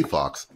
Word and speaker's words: DT-Faux: And I could still say Fox, but it's spelled faux.